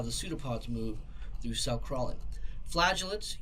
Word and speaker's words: pseudopod: So the first one are called pseudopods. It's pronounced pseudopod.